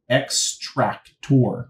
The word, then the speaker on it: ExtractoR: this option here called extract tour right I'm pronouncing it that way because the ex is capitalized and the r is capitalized and this is going